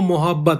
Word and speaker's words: मुहब्बत: क्यों मोहब्बत, देखो लिखा हुआ क्या है, मोहब्बत, बट एक्चुअली में उर्दू में जो इसका प्रोनाउंसिएशन होता है वो होता है मुहब्बत, मुहब्बत। देखो ध्यान से प्रोनाउंसिएशन, माँ